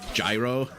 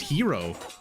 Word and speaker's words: gyro: freaking garlic sauce oh New Yorkers call it gyro yeah exactly I think it's pronounced hero but I'm not 100% sure New Yorkers do whatever the